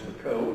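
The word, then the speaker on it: Bacot: possible by several people i mentioned dr hunter bako incidentally he's new i've been here about a year you're a little more and if the name is not familiar to you it's b-a-c-o-t pronounced mcco and he's sitting right there in the second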